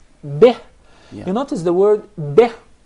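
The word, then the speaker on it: بِهِ: The ba has a kasrah beneath it. So we must make sure it is pronounced as kasrah. It's commonly mispronounced to be bih. If you notice, the kasrah is with a smile, bih.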